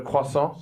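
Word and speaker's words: croissant: For me, when I first came here, I always ordered a quason, you know, and then the barista looked at me. He was like, "Gh, what do you mean That's how you say it." I grew up speaking French, you know.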